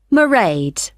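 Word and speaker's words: Mairead: do you spell that it's m a i r e a d marade okay got that it's not a name I'm familiar with oh it's an Irish name she comes from Dublin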